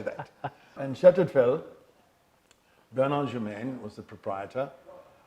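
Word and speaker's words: Château de Fesles: I worked at a very wonderful French word which sounds like Chateau de Fel and is spelt Chateau as we know Chateau, and de Fel is D-E-F-E-S-L-E-S. Ah Chateau bon? de Fel. Chateau de Fel. As you would say, it looks like Fezles, but no, don't say that.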